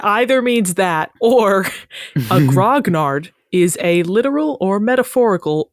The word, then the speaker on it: grognard: that word is used so wait is it pronounced grognard in English in English yes but it was